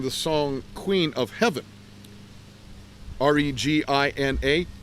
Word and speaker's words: Regina: R-E-G-I-N-A is Regina, not Regina.